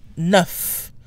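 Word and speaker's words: neuf: also pronounced weet weet the f at the end of nerf is pronounced nuff nuff but this is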